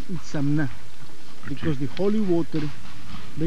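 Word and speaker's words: Itzamná: And how do you pronounce it? Itzamna.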